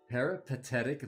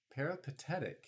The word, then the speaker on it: peripatetic: all right as a parapathetic loser loner loser i'm not familiar with that word let's look this up let's educate let's learn something new i might have butchered the pronunciation there too peripatetic check it out chat